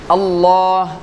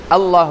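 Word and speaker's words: الله: உதாரணத்துக்கு அல்லாஹ், அல்லாஹ் வாயை ரவுண்டாக்கி வாய் முழுக்க அந்த உச்சரிப்பு மொத்தமாக சென்றடையணும்.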